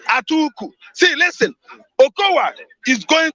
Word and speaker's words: Atiku: No, that's the real pronunciation in Hausa language. Atuku.